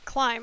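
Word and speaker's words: Klim: real this face it's your face Dr Sigma climb oh that's how you say it climb okay yeah yeah Alma although to the you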